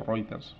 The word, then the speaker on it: Reuters: agencias especializadas del tipo Reuters, que conocéis, o Reuters se pronuncia.